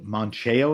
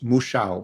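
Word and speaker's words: Mouchão: how you pronounce it no it's Musha Musha Musha the wire is in front of the you Musha m o u c h a a with a tild o with a Tilda o now is the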